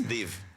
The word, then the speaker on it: DIIV: how do you say it right however you want okay for me it's div sure dive no it's dive it's di call Ev